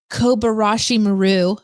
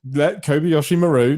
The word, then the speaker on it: Kobayashi Maru: I I feel like the Kobarashi Maru Kobayashi Maru.